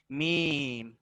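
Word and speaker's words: ميم: The next one इज मीम. इज अ शफविया letter pronounced from the dry part of both lips.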